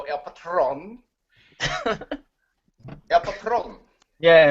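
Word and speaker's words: El Patrón: patron not alone Rio I believe the pronunciation is Alberto el patron yep a problem Yeah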